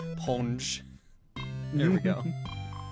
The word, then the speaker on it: Sponge: Sponge, the S is silent. Ponge.